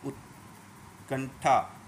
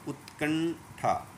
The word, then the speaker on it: उत्कंठा: मैं जानबूझ के त का उच्चारण कर रहा हूँ तो आपको आपकी सुनाई दे, आपको समझो, उत, नहीं तो इसका सही उच्चारण है उत, उत। हाँ, ऐसे ही कंठा, उत्कंठा, और थान में जुड़ने